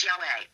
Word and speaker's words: Yahweh: The true pronunciation of the name YHWH was never lost. Several early Greek writers of the Christian church testified that the name was pronounced Yahweh.